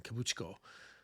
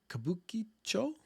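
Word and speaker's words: Kabukichō: uh there was about 300 host clubs in kabucho kabukicho I think I said it so fast I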